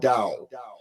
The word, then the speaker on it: Tao: So Tao would be pronounced Dao.